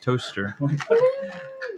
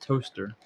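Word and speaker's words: Towcester: town spelled that looks like Toastester, pronounced toaster. That's today's comments. It's how to pronounce that word and also mushrooms No. and lentils. There's a town called that's spelled like Toastester, but it's pronounced toaster.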